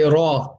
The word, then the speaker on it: ر: out from the right place let's first say raw together raw raw raw raw and try your best to pronounce it if you want to say it